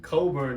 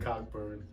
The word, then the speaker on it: Cockburn: Kofi Coburn, as I've learned it's pronounced, not Cockburn.